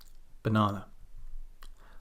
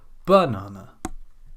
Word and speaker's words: banana: Let's pick out a shorter word. Banana. What happens if we pronounce it like this? You can try it yourself here. Banana. Or how about this? Banana. Hopefully you understand and you can acknowledge that this sounds very strange, and this is the essence of syllable stress.